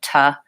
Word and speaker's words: to: And this leads us to some more complex speech, which is in connected speech, when I use the word to, I don't say it like to. I also reduce it to ta in phrases.